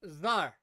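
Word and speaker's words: czar: you are pronouncing it the Russian version of Emperor so it is pronounced zar yeah contextually I'm aware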